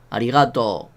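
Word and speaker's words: ありがとう: soul dicen ellos no nosotros leemos arigato y ya está porque tenemos de la r es similar al japonés nunca la erre fuerte no la de res suave es un buen ejemplo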